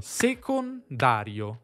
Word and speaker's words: secondario: Una parola tipicamente, se non lo sapevate, ha un accento primario e uno secondario. Sécondàrio.